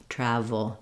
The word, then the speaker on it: travel: for the V sound it's made in the same mouth position as the F sound the letter f um but my voice is on V travel travel um and uh and then finally we have our um dark l so when the L is at the end of the word in English often it has a little bit of an uh sound before it awah and that means when